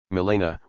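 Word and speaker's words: Milena: this sort of exercise Melena with an accent on the I Begins by evoking a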